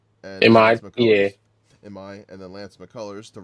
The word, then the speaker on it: Imai: Looks like they're going to go Hunter Brown, Mike Burrows, Christian Javier, Tatsuya Imai, I think is how you say it. And Imai, and then Lance McCullers to round it out.